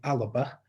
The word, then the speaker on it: Alba: And I'm told it is Alba, so...